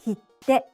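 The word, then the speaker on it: きって: The next pair is kite and kitte. Kite means come and is pronounced in 2 syllables. Kitte means stamp and is pronounced in 3 syllables.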